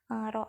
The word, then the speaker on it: rho: Nah, rumus dari tekanan zat cair itu seperti yang sudah pernah saya jelaskan adalah rho, ini dibacanya rho, dikali gravitasi, dikali kedalaman ikan berenang.